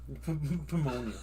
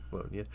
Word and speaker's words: pneumonia: You pronounced a P like in pterodactyl. Pterodactyl. Yeah. Pneumonia. Pimonia. Pneumonia.